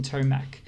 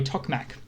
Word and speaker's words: Tokmak: is there it is sorry tokmak i always get that name wrong so there were ex